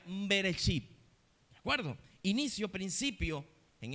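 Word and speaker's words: בראשית: Y en el hebreo se pronuncia beresip, ¿de acuerdo? Inicio, principio en el hebreo. Bereship.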